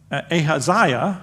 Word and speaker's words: Ahaziah: of Judah had gone down to see him ahaziah that's that's how you pronounce that so there's a hasaya is there